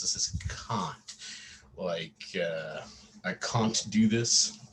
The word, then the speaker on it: Kant: That's right, the way to pronounce this is Kant. I can't do this. It's closer to like C or K-O-N-T than to can't.